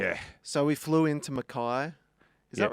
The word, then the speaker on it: Mackay: and I was going, boys, it's Mackay. I reckon I had to tell them 10 times before they got it. Yeah. They were like, but it's spelt Mackay. I'm like, that's not always how words work. Yeah, like Bondi Beach.